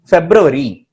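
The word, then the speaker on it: February: பிப்ரவரி அப்படின்னு சொல்லுவோம் இல்லையா? பிப்ரவரி. ரிமெம்பர், அந்த யூ இருக்கு பாரு, அது யூவாவே தான் இருக்கணும். பிப்ரவரி, இட் இஸ் பிப்ரவரி.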